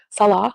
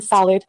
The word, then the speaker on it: Salah: They mispronounced my Syrian husband's name, Salah, which means prayer in Islam, by the way. They call him salad right in her thumbnails.